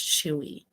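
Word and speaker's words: Chuu: you chewie chewie chewie i heard that her name is pronounced chewy I don't know how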